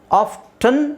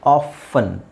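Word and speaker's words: often: ಮಾಗೇಜ್ ಇದು ನಾನು ಹೇಳಿದ್ನಲ್ಲ ಆಫ್ಟನ್ ಅಂತನಾದರೂ ಹೇಳಬಹುದು ಆಫ್ಫನ್ ಅಂತನಾದರೂ ಹೇಳಬಹುದು ನಾನು ಆಫ್ಫನ್ ಅಂತ ಹೇಳೋಕೆ ಇಷ್ಟ ಪಡ್ತೀನಿ ಯಾಕೆಂದರೆ ಎಕ್ಸ್ಟ್ರಾ ಯಾಕೆ ಒಂದು ಅಕ್ಷರ ಅದರಲ್ಲಿ ಹಾಕಬಹುದು ಆಫ್ಟನ್ ತುಂಬಾ ಜನ ಆಫ್ಟನ್ ಅಂತ ಯೂಸ್ ಮಾಡ್ತಾರೆ ಫಾರಿನರ್ಸ್ ಫಾರಿನರ್ಸ್ ಅಲ್ಲೇ ಈ ಎರಡು ಪದನು ಇದೆ ಆಫ್ಟನ್ ಆಫನ್ ಎರಡು ತರನು ಯೂಸ್ ಮಾಡ್ತಾರೆ ಅವರು ಸೊ I would say like ಆಫನ್ is better option ಆಫನ್ ಯಾಕೆಂದರೆ ಟಿ ಎಕ್ಸ್ಟ್ರಾ ಹೇಳೋ ಅವಶ್ಯಕತೆ ಇಲ್ವಲ್ಲ ನಮಗೆ ನಾವು ಲ್ಯಾಂಗ್ವೇಜ್ ಅನ್ನ ಯಾವಾಗ್ಲೂ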